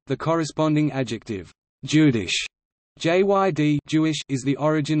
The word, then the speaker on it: jüdisch: The German word Jude is pronounced Judi, the corresponding adjective Judish, Jyd, Jewish, is the origin of the word Yiddish.